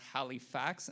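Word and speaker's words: Halifacts: There's also a Facebook page called Halifax, and that's spelled H-A-L-I-F-A-C-T-S, where there's also casting calls posted directly by producers there as well.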